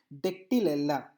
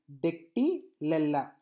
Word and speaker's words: Dactylella: Now dactylella, again dactylella, dactylella. I think so I pronounced it, I think you understood my the way I pronounced the names, so you please follow that.